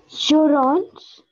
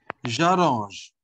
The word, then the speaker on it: j'arrange: J'orange? No, j'arrange. J'arrange. Because after J, there is A.